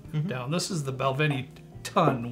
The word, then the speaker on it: tun: preparation for this show it's actually pronounced ton and ton is basically